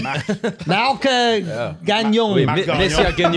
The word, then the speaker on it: Mark Gagnon: How do you pronounce his name? Mark Gagnon.